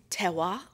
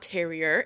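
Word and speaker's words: terroir: So if we're going to be talking about tewa, don't at me if I'm saying that wrong. It's definitely not terrier. It is spelled T-E-R-R-O-I-R.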